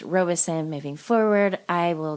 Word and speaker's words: Robison: So the pronunciation for part 1, I was saying Robison for the family, and it's not Robison, it's Robison. So my apologies on that, everyone. The name is pronounced Robison.